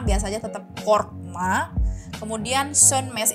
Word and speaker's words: sönmez: aja tetap korkma kemudian sunmes itu o-nya ada titik dua di atas kan jadi O titik du itu nanti bacanya e jadi bacanya bukan sonmes tapi sunmes sunmes jadi korkma Sun